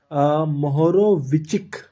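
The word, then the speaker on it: Mohorovičić: है यह आया है मोहरो विचक यह विच प्रोनाउंस होता है मोहरो विच के नाम पर किया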